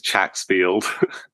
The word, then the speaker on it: Chacksfield: My last name is Chacksfield.